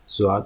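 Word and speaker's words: ضاد: So the sound is Zwad. Zwad. Okay, Zwad. Zwad. Okay, Zwad. So the word in English language would be zoo. Okay, or zebra. Zebra. Okay, which could be used to pronounce the sound of this Zwad.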